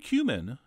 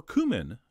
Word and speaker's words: cumin: We're also going to throw in a spoon of ground cumin, or cumin, as I believe it's supposed to be pronounced, as well as a little bit of ground coriander.